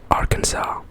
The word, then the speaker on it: Arkansas: wrong because it's it's spelled arkansas but it's pronounced arkhans arkansas so um yeah interesting as well california california